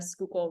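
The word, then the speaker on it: Schuylkill: to pronounce names and one of them is skookul which is spelled like a crazy I'll have Mark put it in the group chat but like you'd never guess it was pronounced skookul um but there's like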